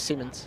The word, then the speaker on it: Simmons: brody simmons simons simmons i actually asked him while i was keeping had he pronounced him soon and he came into bed and asked and it was simmons yeah i see times